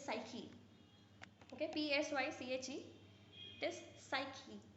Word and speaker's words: psyche: It is psyche. P is silent, so you pronounce it as psyche.